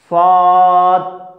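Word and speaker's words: صاد: হ্যাঁ, তাহলে এই হরফের নাম কি, সোয়াদ, সোয়াদ না সোয়াদ, সোজা উচ্চারণ সোয়াদ, সোয়াদ, স্লেটের মধ্যে লিখো,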